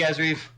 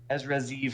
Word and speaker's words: Ezra Zeev: What do you think, Ezreev? Ezra Zeev. I keep on saying his name wrong. I actually heard Eric Rosen say his name correctly, so I had to make sure I say it right.